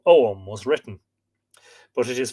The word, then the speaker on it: Ogham: Oum, that's how you pronounce it. Yeah, some people say Ogham. Oum, yeah, that's exactly it.